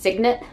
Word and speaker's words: Signet: So at the time, Stephen King was working with, I believe it's pronounced Signet, S-I-G-N-E-T, Signet Books, and he really wanted to release two novels in the same year.